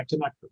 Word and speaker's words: Conneqtor: I don't want to pronounce it wrong, but. That's correct. Yeah, Conneqtor.